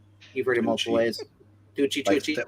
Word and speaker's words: Tucci: Tucci. Like Stanley, same way Stanley pronounces it.